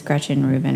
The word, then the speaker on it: Gretchen Rubin: and then she lists her website which is Gretchen Rubin or something calm I think I'm pronouncing that correctly yes you are and I